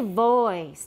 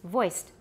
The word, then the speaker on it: voiced: over many years yeah don't say voice it's voiced voiced voiceless voicing continue